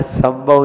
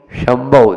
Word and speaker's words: शंभव: अपन संभव बोलते हैं और जबकि वो संभव है। समझ में आ रहा है? तो हमने कहा था कि यहाँ संभव नहीं, शंभव, शंभु, जो शंभु है वो वाला शंकर वाला से है।